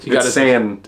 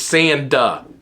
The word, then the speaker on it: Sanda: about it but he got my name wrong sand it's Sanda with a d he said a few